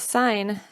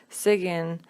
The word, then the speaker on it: sign: Arabic students make is pronouncing the silent words and letters this also has to do with the fact that Arabic is primarily phonetic and so when students see words such as sign they might actually pronounce it as Sigyn because they think that you pronounce everything in the word when looking at grammar